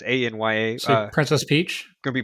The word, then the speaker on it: Anya: I think I pronounced that right. Anya. It's Anya.